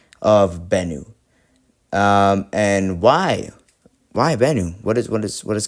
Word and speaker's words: Bennu: All right, pronunciation of Bennu, the asteroid. Oh, just Bennu. Okay, Bennu. Okay, so I'm pronouncing it correctly.